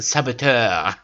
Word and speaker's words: saboteur: saboteur you know with with the french pronunciation saboteur the can that will transform